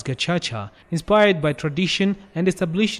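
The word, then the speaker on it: Gacaca: prisons and communal Jays the gacha card pronounced as gacha inspired by tradition and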